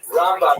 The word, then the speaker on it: Rambam: all your friends there, Rambam is pronounced with the emphasis on the first syllable, Rambam, and Ramban is pronounced with the emphasis on the second syllable, Rambam and Ramban.